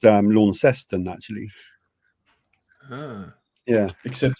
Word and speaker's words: Launceston: Pronounced Launceston, actually. Ah. Yeah. Except it's not pronounced lawn, even though it's spelled that way. It's Launceston.